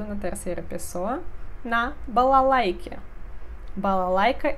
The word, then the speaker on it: балалайка: Балалайка é um instrumento tradicional russo. Балалайка. Conjugação completa. Я играю.